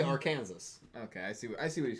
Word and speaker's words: Arkansas: And how do you say Arkansas? Right, that's the issue. So No, I'm no, trying it- to change that. Oh, So I say Arkansas.